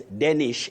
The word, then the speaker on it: Danish: Danish Ondieki, I'm saying Danish the way the name is spelled Betty. Okay. It's Danish in this case.